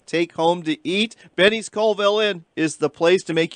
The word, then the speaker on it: Colville: As you can see, Callville is a great place to go this fall for a cast and blast vacation.